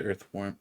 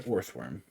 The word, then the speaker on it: Orthworm: Bramblin, Euphant Krogunk, Puddle, Sudowoodo, Grusha, Primeape, Tinkaton, Abomasnow, and another Earthworm. I will say it right. Another Orthworm. It's like Earthworm, but it's not.